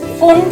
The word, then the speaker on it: Pfund: This series is known as Pfund series. P is silent. This series is Pfund series.